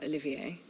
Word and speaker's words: Olivier: Should you remain loyal to Emperor Olivier, his radiance may Olivier. yet crown your head with laurel, Olivier, the R silent. and not with tar. That's how to say it.